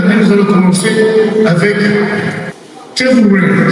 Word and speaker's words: Tervuren: Tout à l'heure, nous allons commencer avec Tervuren, c'est comme ça qu'on prononce, n'est-ce pas? En français, Tervuren, ok, voilà.